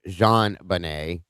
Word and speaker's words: JonBenét: listen to the name, JonBenet, which was actually supposed to be pronounced Jean Benet.